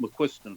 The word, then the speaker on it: McQuiston: The way they used to pronounce that is McQUISTON, like the McQUISTON. But believe me, I've heard 4 people who speak Gaelic tell me how you pronounce it, and I still can't tell you how it is. But anyway, it came out McQUISTON for my family.